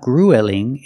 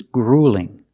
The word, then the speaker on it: grueling: Also notice with e ue l, we don't say ool. It's not grueling. It's grueling. Use the long ooh plus the light l.